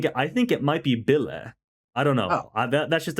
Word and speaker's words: Bille: In the opening credit for this, pronounced Billy.